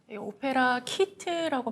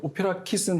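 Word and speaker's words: OPERA Kit: 오페라 키트라고 발음하는 게 아니라 오페라 킷이라고 발음을 해야 되는군요.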